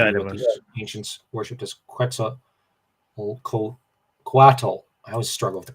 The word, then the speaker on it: Quetzalcoatl: shown to be what the ancients worshipped as Quetzalcoatl. I always struggle with the pronunciation.